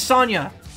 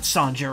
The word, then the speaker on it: Sonja: What, you don't pronounce the J. I was like, it's not Sonja, right? Like, that's how I've always said it, but it's not right. It isn't. And it isn't. It's Sonya.